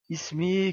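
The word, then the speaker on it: اسمي: Ici, aliful wasl est en début de phrase, et donc on prononce la voyelle kasra. Ismi Karim.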